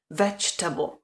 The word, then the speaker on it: vegetable: psané podobě je potom G se vůbec nevyslovuje polkne se Vegetable a ta koncovka která by normálně se vyslovovala sama o sobě table jako stůl se tady vyslovuje stejně jako v případě toho kable Vegetable comfortable Vegetable pozor na to a pozor